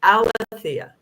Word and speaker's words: Alethea: So my understanding is it was actually pronounced Alethea.